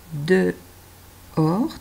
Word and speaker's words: dehors: Il a joué un peu dehors. T'as vu le piège? Il y a le H muet en plein milieu. Dehors.